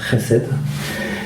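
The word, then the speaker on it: חסד: Ça se prononce Chesed.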